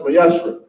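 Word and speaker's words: מעשר: It means 10th in Hebrew, and it's pronounced Mayashra.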